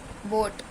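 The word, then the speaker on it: boat: टी फ्लॉट्स इलें है बोट बोट में भी हमारा क्या है ए साइलेंट लेटर बी डल ओ आर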